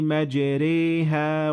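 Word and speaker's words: مَجْرٜاهَا: and in this case, you will do what we call imala, which is not fully pronouncing the alif, and it would sound like that. Bismillahi majreha wa mursaha.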